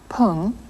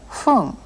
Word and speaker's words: 分: But in 8 時 15 分前, you heard not pung, but fung. After certain numbers, the correct pronunciation of the word for minute is fung.